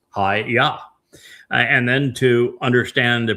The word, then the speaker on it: Yahowah: And Hayah tells us how to pronounce the Y, the Yod, and the two Hay's in Yahweh's name. It's YAHOWAH.